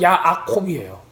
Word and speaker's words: 야아콥: 그래서 히브리 말로는 야아콥이에요. 에서도 에사브예요.